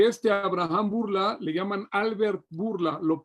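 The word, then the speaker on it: Bourla: De esos sobrevivientes había una familia que se llamaba la familia Burla.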